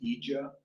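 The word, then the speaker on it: IIJA: I found out how the acronym is pronounced now. It's EJA, supposedly.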